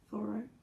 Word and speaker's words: Thoreau: poet philosopher and essayist henry david thoreau thorough a particular name pronunciation was struggling from the